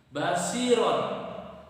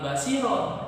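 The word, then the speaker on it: بصيرا: Basiron di situ ada huruf ro. Ro yang berharokat fathah tanwin kemudian terletak di akhir ayat. Kemudian di situ ada huruf alif kemudian diwaqafkan. Maka cara membacanya bukan basiron tetapi basiro, 2 harokat roknya.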